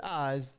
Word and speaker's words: Iz: Because once you go, oh, he pronounces it Eyes, then every time you see it, you know it's Eyes LaMarr.